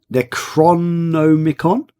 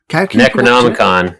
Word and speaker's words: Necronomicon: Okay, I'm not going to be able to pronounce this because I can never pronounce anything. Get your wife Necronomicon? Necronomicon.